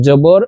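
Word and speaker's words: جِي: জের জিম জের জি এখানে এক আলিফ টেনে পড়তে হবে জিম ইয়া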